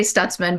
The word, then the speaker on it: Stutzman: We just say Stutzman, but probably back in Switzerland, it was different.